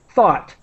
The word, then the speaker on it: thought: the I'm trying to the pronunciation is like the word hot but with th thought thought thought so that's think to